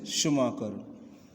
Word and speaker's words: Schumacher: Pronunciation is Schumacher.